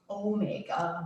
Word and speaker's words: omega: And then we have Omega. omega. The alpha and the omega. Yeah. It's the last letter of the alphabet, and that makes a long O sound.